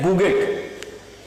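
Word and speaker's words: bougette: इट वॉज प्रोनाउंसिएटेड एज बुगेट।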